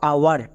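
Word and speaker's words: hour: এর ক্ষেত্রে নিয়ম হচ্ছে এইচ এর পরে যদি ও থাকে তাহলে এইচ সাইলেন্ট থাকবে। যেমন এক্সাম্পল দেখো আওয়ার এখানে এইচ আছে।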